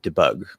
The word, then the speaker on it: debug: first word i'd be debug debug you say d that's fine but it usually reduces because it's not the stress syllable debug um in debug mode debug mode so it'd probably be still on bug um if i translate